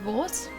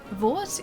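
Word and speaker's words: Vordt: There was a D in there, though. It was like V-O-R-D-T. So, like, Vort in Dark Souls is spelled V-O-R-D-T. So we, like, played around with that. Vort didn't have enough faith.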